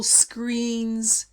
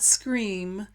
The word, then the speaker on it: screen: phone charging stations, digital screens, and I want to explain screen is with an N sound at the end. Screen, not scream, screen.